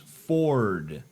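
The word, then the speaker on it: Adam4d: comics of Christian cartoonist Adam 4d of Adam for decom oh I'm sorry that's actually supposed to be pronounced Ford for D for duh get it it's very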